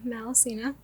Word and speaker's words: Malaussena: mainly also on facebook which is malacina that's it but yeah all the data is on instagram your handle is malacina it's my full name